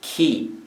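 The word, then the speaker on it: 木: it is the character for tree which is pronounced ki in japanese so let's take a look at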